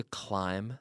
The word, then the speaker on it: climb: what's interesting here is we have the silent B CLI M B climb climb it's silent the word ends with the M sound which is formed when we when we touch our lips together climb climb mmm climb